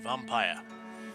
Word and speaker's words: Vampyr: are playing some more vampire or vampir depends on how you want to pronounce it because of the weird yr spelling uh this is our